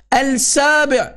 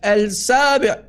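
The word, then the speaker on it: السابع: Al-Sabi'. Number 7. That's how you say it in Arabic. Al-Sabi'.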